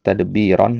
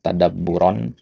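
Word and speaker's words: تدبّرًا: Nah, kemudian tadi untuk bacanya tadbiran yang benar adalah tadabburan ya.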